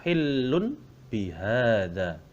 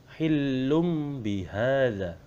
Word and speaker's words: hillum bihada: Tulisannya adalah hillun bihada. Hillun bihada. Nah, tapi cara membacanya hillum bihada. Jadi hillum bihada karena ada dhammah tanwin bertemu dengan huruf ba, maka disebut dengan iklab.